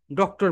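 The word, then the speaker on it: doctor: করে দিয়ে এখানে শুধু ডক্টর বলবো, কি বলবো বলতো? এটারও দুইটা প্রোনাউন্সিয়েশন আছে। একটা হচ্ছে ব্রিটিশ, ব্রিটিশ সাউন্ড হচ্ছে ডক্টা, বলো ডক্টা। আর আমেরিকান সাউন্ড হচ্ছে ডক্টর, ডক্টর বলো।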